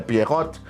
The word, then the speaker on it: Pierrot: Agora, esse Pierrot que você falou, até a sua pronúncia deve ser mais correta, é Pierrot, eu vejo que eu